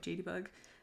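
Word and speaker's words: JadeyBug: My Tootsie, it's spelled J-A-D-E-Y-B-U-G, so like JD Bug.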